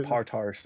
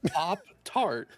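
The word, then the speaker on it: Pop-Tart: yeah there you go you didn't say partars oh you know you you say oh it's a part-time it's pop tart yeah yeah yeah i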